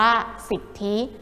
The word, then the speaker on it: สิทธิ: ว่า สิทธิ กัน ค่ะ สิทธิ นะ คะ อ่าน ว่า สิทธิ ซึ่ง ความ หมาย ก็